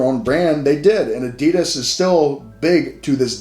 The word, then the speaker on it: Adidas: Adidas is actually pronounced Adidas so when you go to Germany that's how they would say it would be Adidas or something like that